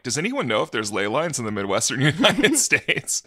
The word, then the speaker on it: ley lines: Sir, is it pronounced Leland? Leland. Why are you pronouncing it? No, I think it's just ley lines.